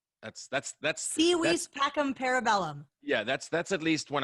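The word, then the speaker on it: Si vis pacem para bellum: It's Si vis pacem parabellum. That's Si vis pacem parabellum.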